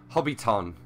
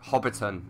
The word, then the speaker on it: Hobbiton: the Rings references and he said hobby Tong and it's a rhyme with Bobby's gone instead of like Hobbiton to rhyme with Bobby fun okay just a few